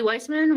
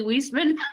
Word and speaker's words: Wieseman: will take the weissman weissman with uh i just pronounced my name wrong that's hilarious wieseman with women's space i'll tag